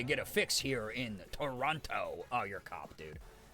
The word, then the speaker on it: Toronto: So yeah, if you pronounce the second T, you're Yeah, you're a cop. Hey, you kids know of any drug dealers? I'm looking to get a fix here in Toronto.